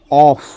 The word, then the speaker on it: off: इसका प्रोनाउंसिएशन है ऑफ, यानी ओ डबल एफ को हम लोग ऑफ पढ़ते हैं।